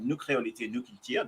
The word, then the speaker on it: Nu Kreolite Nu Kiltir: Mais on s'amuse bien et après donc moi c'est nous créolité, nous culture, si je le prononce à la créole, nous créolité, nous culture.